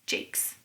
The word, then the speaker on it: Jacques: I heard him say it once on TV, and I think it's Jakes, but it's spelled the same as Jacques, so you tell me.